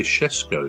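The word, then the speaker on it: Šeško: How do you pronounce Cesco? Well, I say I say Ces Cesco, but the commentators seem to say Shesco, don't they?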